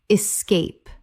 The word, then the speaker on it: escape: Escape. Two syllables. The word begins with E S, not X.